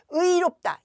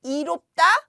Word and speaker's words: 의롭다: 또 의롭다, 이롭다 안 돼요. 이롭다 안 돼요. 의롭다라고 발음해야 돼요.